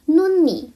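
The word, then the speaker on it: 눈이: Kalau ketemu sama vokal dia dibaca huruf aslinya yaitu N juga. Contohnya itu ada nun ni.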